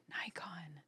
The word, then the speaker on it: Nikon: Nikon. It's pronounced Nikon.